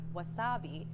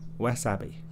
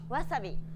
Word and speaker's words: wasabi: language like English so instead of stressing the second syllable like wasabi make it even throughout try again less happy wasabi wasabi wasabi nearly all sounds and